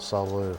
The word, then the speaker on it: salute: Isn't it salute or is it salute? Oh, you don't pronounce the T, motherfucker.